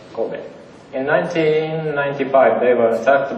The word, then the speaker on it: Kobe: We pronounce like Kobe. Kobe.